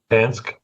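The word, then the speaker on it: Panksepp: were talking about the neuroscientists that I cannot pronounce her name. What is it? Jack Pans Pank Pep Pansk. Yeah. Uh Pansep.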